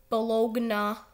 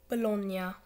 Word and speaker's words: Bologna: to be pronounced so no you do not pronounce this team balogna or baloney it's bologna so there you go just ruined your childhood